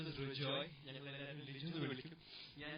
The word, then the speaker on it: Rejoy: എന്റെ കല്യാണം സീനിയുടെ കല്യാണം കൂടെ പോയ പതിനാ ആരുടെ എന്റെ കല്യാണം കേട്ട ആവശ്യം Liju A lot of people got his name wrong. His name is Rijoy.